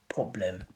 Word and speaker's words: problem: If you want to sound more British, you want to say problem. Problem with an O sound. Problem, not problem, because Americans say problem and British say problem.